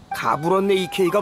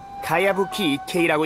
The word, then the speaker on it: 가야부키 이케이: 가부럼네 이케이가 뭐니? 그건 가야부키 이케이라고 읽는 거야.